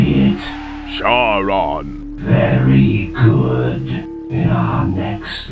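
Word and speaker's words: Charon: r o n okay now you say it shene no you idiot my name is Shon it's spelled c h a r o n got that now you say it shwin you've got it all wrong it's pronounced Shon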